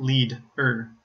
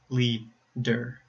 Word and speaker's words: leader: of the first syllable it's not lead ER it's Lee der another example hello so